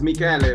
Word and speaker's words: Michele: Michele, am I pronouncing that right? Is it Michele? It's Michele, but Michele.